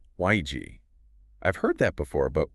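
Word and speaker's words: 危机: It's pronounced wēijī. wēijī.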